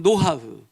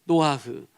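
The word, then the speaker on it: נח: 정확하게 발음 노하흐. 노하흐.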